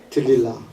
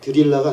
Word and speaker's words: 들릴라: 우리가 어 성탄절이 되면 많은 영화로 보는 삼손과 드릴라 그죠이 발음이 좀 어려워요 들릴라가 아니고 들릴라 그 삼손과 들릴라의 아름다운 사랑 이야기